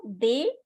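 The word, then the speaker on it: des: so d s is they because you don't don't have to pronounce the ending consonant so they and Fe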